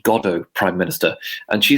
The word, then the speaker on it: Godot: She had compared something to Waiting for Godot, but she pronounced it Godot, hard T at the end. And her foreign secretary, Lord Carrington, which leaned over and whispered, "It's pronounced Godot, Prime Minister."